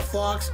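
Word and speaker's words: Phawx: Fox is spelled P-H-A-W-X.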